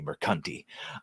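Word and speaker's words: Mercante: While I have heard it both ways, and while I would accept Alyssa, it is most certainly Mercanti.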